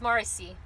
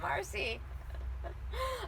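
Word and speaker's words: Marici: a sun goddess and her name is morrissey her name's marcy i never it but it's spelled marty c and the m-a-r-i-c-i that's crazy i've nev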